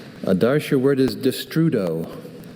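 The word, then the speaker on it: destrudo: Uh could you repeat the pronunciation? Distrudo.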